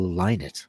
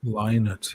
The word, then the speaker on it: Lynott: It's like people who say Phil Lynott. It's really Phil Lynott. Lynott, yeah.